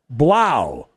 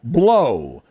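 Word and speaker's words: Blough: quarterback is uh david blau who should pronounce his name blow the old purdue quarterback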